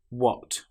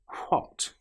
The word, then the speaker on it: what: Another common example is when you have WH together. Some very common words have this combination of letters. For example, what, which, where. In these cases, the H sound doesn't exist. Now, in some parts of England, they will say what, which, and where. But that's not common. The common way is just to pronounce the W sound.